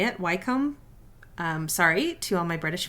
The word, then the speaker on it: Wycombe: I think that's how you say it, Wycombe.